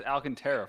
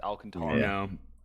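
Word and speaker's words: Alcántara: I didn't 100 interested Alcantara that's what I said you says Alcantara for the longest time it's Alcantara I said we gotta unlocked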